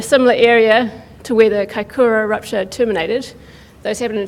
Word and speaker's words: Kaikoura: the 2016 MW 7.8 Kiakura. Did I pronounce that correctly? Kaikoura.